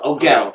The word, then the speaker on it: Ogel: Ogel is how you pronounce it.